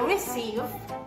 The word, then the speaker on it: receive: Oh my god, I receive. Receive. Receive. Se escribe recibe, pero se pronuncia receive.